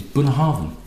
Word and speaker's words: Bunnahabhain: all see that motion or the understory is Boone Harvin and that's how you pronounce it burnet Harvin and it was actually